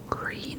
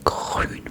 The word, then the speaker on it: grün: Because we Germans, we do pronounce our R's like in grün. Obviously, it's not like green. It's like grün.